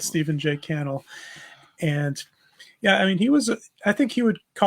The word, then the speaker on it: Stephen J. Cannell: I think it's Cannell. I think it rhymes with panel. I've heard it pronounced both ways, but I heard him pronounce it Cannell. So I'm going to go with Stephen J. Cannell.